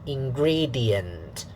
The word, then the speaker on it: ingredients: syllable okay syllable one syllable two will be stressed so and then syllable 3 unstressed suitable for unstressed so weak strong weak weak weak strong weak weak ingredient sorry 4 syllables ingredients yeah the da da